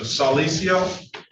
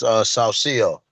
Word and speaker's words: Salcio: Give me the correct pronunciation. Salicio. Hold on, I'm sorry, I had to unmute it. It's Salcio.